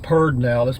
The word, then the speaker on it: Pedernales: It's pronounced Pedernales, but it's spelled Pedernales, okay?